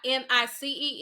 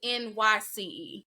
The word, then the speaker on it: Nyce: And it is spelled, it's not Nice, it's Nyce.